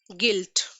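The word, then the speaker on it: guilt: Okay, next example, गिल्ट। ठीक है, यू एंड आई एक साथ यूज हुए हैं एंड in this case also I sorry you is silent.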